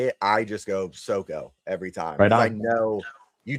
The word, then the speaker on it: Soko: Now this is he he has written but I always call him Soco. Is that the proper pronunciation for your name?